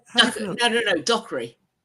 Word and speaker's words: Dockery: And I Well, how do you pronounce her name? Michelle Dookery. Is it Have I got it right? No, no, no. Dockery. Michelle. Dockery.